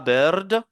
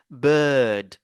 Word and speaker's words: bird: Ne dites pas bird, ne prononcez pas le R, parce que c'est le I et le R euh, qui sont remplacés par ce symbole-là. Donc, on dit bird, bird.